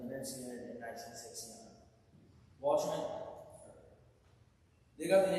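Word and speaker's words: Lynyrd Skynyrd: Those tracks eventually got put away, and instead the band released their debut album, pronounced Leonard Skinner, in 1973.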